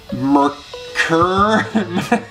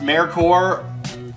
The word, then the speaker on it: Merkur: as a Merkur, or people pronounce it all the time wrong. Merkur. Technically it's pronounced Merkur. I don't know why, don't ask.